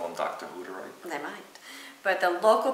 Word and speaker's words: Hutterite: There is an artist who grew up as a Hutterite. A who? Or actually, it's pronounced Hutterite.